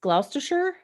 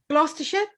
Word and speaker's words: Gloucestershire: it right she's in cheltenham correct which is gloucestershire gloucestershire correct wow well done girl thank you